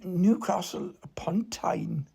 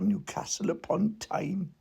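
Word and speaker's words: Newcastle upon Tyne: people who come from Newcastle pontine apparently you have to pronounce it like that Newcastle upon time that's that's where they're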